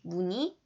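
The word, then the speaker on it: 무늬: 자, 자음을 첫 소리로 가지고 있을 때는 무조건 1로 2로만 발음하시면 되는데 그 앞에 자음을 넣으시면 되죠. 그래서 닐리리, 무니, 띄엄띄엄 이렇게 맞았는 채점해 주시고 틀린 건 정확하게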